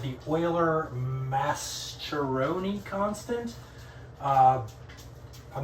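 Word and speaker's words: Mascheroni: going to be using is called the Euler masteroni constant uh I'm not sure how you pronounce that um but it's spelled m-a-s-c-h-e-r-o-n-i so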